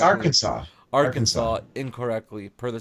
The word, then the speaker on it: Arkansas: Arkansas. Arkansas. Arkansas incorrectly per the state code. The only acceptable pronunciation is in 3 syllables, with the final S silent, the A in Yeah.